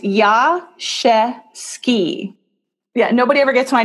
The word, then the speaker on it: Jaszewski: in New York actually I used to say or yeah jet ski and I don't know how she saw my name on a credit card or something she goes no your name EV ski so even I was pronouncing it wrong it's so the SZ I thought was an SH sound that's why I said